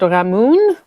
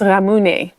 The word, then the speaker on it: ramune: And hopefully I'm pronouncing that correctly because from the first video I spoke about ramune but I think I said ramoon and someone I believe helped me. I think it's more pronounced ramune.